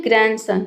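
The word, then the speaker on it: grandson: ग्रैंड में भी देखिए एंड आया है बीच में। एक ग्रैंड हो गया। दूसरा सन हो गया। दो सिलेबल हो गया। तो यहां पे डी लेटर साइलेंट है।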